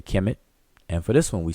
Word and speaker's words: Kemet: transliteration, and as a consequence in pronunciation, today's pronunciation, that is. So for this one we say Kemet, and for this one we say Kemet.